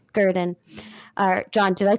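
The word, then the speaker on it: Gruden: Gurdon.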